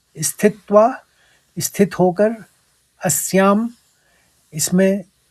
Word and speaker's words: स्थित्वा: तीसरे चरण में तो यहां पर आघात आपको समझने है स्थित्वा स्थित फिर त्वा स्थित्वा फिर उसी के साथ